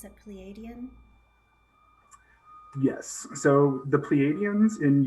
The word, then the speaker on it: Pleiadian: Fae that turned out to be, did you pronounce it Pleiadian?